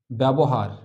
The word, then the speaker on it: ব্যবহার: ব্যবহার, উচ্চারণ করি ব্যবহার।